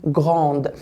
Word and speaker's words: grandes: اللي هي الدو والاس، يبقى لازم انطق ايه؟ جراند. اذا التفريق ما بين الماسكولين والفيمينا، الماسكولين ما بنطقش اخر حرفين، الفيمينا بنطق اخر حرفين.